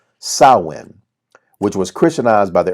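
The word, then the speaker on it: Samhain: have evolved from an ancient celtic festival called saowin which was christianized by the early church pronounced sawin sawin is a gaelic word meaning end of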